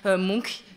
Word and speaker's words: Munch: Munch ou Moon voilà donc vous saurez Monk moi j'essaie de il faut trouver un un petit de trouver un truc pour essayer de s'en souvenir mais finalement voilà c'est c'est ainsi qu'on le prononce en norvégien elle va remonte donc